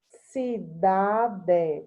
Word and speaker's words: cidade: Cidade. Qual é a sílaba tônica? Da.